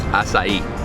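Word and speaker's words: açaí: people like a ibows I'm actually pronouncing it wrong it's asai asai bows obviously it's Portuguese oh my God I'm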